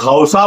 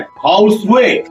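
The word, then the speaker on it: ခေါက်ဆွဲ: सूरत में आया कहां से ये डिश, जिसे हम लोग खाउसा बोलते हैं। हमारे यहाँ जनरली खाउसा बोलते हैं, कोई खाउसे बोलता है, कोई खाउसेऊ बोलता है। जो बर्मा में उसका असल प्रोनाउंसिएशन है खाउसवे, खाउसवे।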